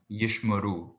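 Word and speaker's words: יִשְׁמְרוּ: point out number two here is yishmaru because that one can be tricky with the shavas number two the first one is silent um so if we're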